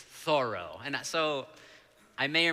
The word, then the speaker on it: Thoreau: right by Walden Pond, alarm bells sounded in the bookstore, and all the clerks descended upon me to correct my pronunciation. It's Thoreau.